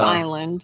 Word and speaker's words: island: Just Island. Oh, it's Oh! The S is silent.